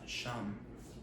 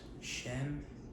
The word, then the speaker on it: 𐤔𐤌: name translates to uh sham sham s h a m you know whereas shenm would be the angloized version of it but then he then